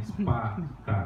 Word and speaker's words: SpAK: Dokter ya, dokter ini SPAK, bukan SPA ya, bacanya SPAK gitu ya.